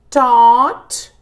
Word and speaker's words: taught: teach, taught, think, thought, pronúncia taught, de pensar, de ensinar, e thought, de pensar. Taught, thought. Told, tell, told, throw, threw, understand, understood, wake, woke, write, wrote.